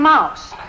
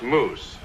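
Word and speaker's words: mousse: you call this Joyce salmon Mouse it's pronounced moose suit yourself Mitzi already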